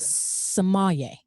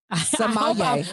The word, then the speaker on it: sommelier: Sommelier. Sommelier.